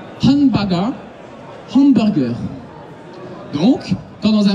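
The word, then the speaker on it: ハンバーガー: Quand il y a un tiré, vous l'ignorez. C'est juste une façon de le prononcer, mais pour vous, c'est pas important. Hanba, et ça, c'est Ga. Hanbaga. Hanbaga.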